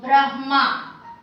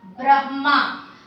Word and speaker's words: Brahma: So this line should be pronounced, r should be pronounced after the b.